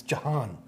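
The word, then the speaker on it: Jhon: It's J-H-O-N. It's Jahan. Pronounce it right.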